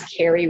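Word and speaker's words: Kari: Now, my name is Carrie, and it sounds pretty normal, but both of those names are spelled kind of non-traditionally. For instance, Carrie is spelled K-A-R-I, and is R-H-O-A-D-E-S.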